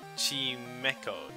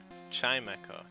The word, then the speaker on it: Chimecho: about one minute all right now team echo team echo okay sorry for pronouncing it wrong all right maybe that guy paralyzed heel nice or Jim echo Chimecho Chimecho okay yeah I don't that doesn't